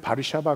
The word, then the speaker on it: 바르샤바: 어 워시 5 그 폴랜드 의 수도인 우리는 바르샤바 그렇게 발음하는 거두어 시료의 있는 그 유대인들을 첨부 잡아가지고